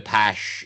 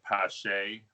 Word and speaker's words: Pache: He was doing the accent on the hardcore E, that CH matters. instead of the pash, like the that Schulman was doing. Yeah, Pache. But there's no accent on the E, so how do you do this?